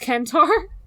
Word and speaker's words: centaur: found out that like it really should be pronounced kentar I'm not over it oh ew I don't like that like in the original Greek it would be like uh like a k sound I hate it yeah